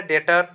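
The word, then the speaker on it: debtor: तो आपका option A है डेटर। ठीक है? डेप्टर लिखा है लेकिन बी साइलेंट रहेगा।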